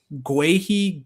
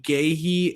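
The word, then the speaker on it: Guéhi: And I have heard for each of them on this podcast pronounced Guehi, Gehi, and Gooey for any of those 2, like for either player.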